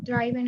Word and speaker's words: driven: He said that he had drove about 400 miles yesterday, or driven as teacher. Driven. Driven. Y la N, esa N, la E muy poco se pronuncia o nada.